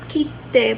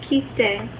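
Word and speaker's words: 来て: Not kite, but kite. K-I-T-E. It's kind of like the word kite. That's how it's spelled. But it's pronounced kite.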